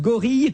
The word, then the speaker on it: gorille: Il faut que je prononce gorille comme aiguille et vanille. Voilà, et comme famille.